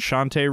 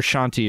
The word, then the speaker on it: Shantae: I got Speedrunners and Shantae Risky's Revenge. So Shantae Risky or Shanti or Shanta or whatever. I've heard it pronounced a bunch of different ways. It's Shandi.